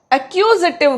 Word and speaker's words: accusative: एक्यूजेटिव case. ACCUSATIVE, एक्यूजेटिव। इसको pronounce करिए, एक्यूजेटिव नहीं, एक्यूजेटिव केस, कर्म कारक।